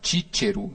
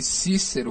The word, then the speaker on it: Cícero: Devia se pronunciar Cícero, né? Mas como nós falamos aqui Cícero, eu vou ficar falando Cícero.